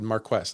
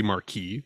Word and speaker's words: Marquess: I Googled it. I said, how do you pronounce this? And Google said Marquess. And I said, I don't think so. Are you sure? It sounds like it'd be Marquis, right? Marquis, it does, right? But it's not.